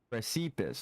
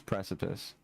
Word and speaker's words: precipice: Um, precipus. No, it's precipice. I learned that sentient is how it's pronounced and not sentient.